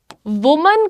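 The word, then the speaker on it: women: और जैसे ही ये बहुवचन हुआ हम इसे कहते हैं विमेन, विमेन, ठीक है।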